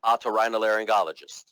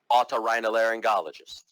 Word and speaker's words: otorhinolaryngologist: Well, you say it otorhinolaryngologist, otorhinolaryngologist, otorhinolaryngologist. I was not born knowing how to pronounce this word.